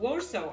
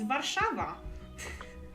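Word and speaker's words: Warszawa: wrongly our uh capital warso I mean it is technically the English name for waro but it's nothing like the Polish name it's vava not war so but it it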